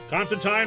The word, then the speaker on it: Constantine: Constantine rhymes with wine.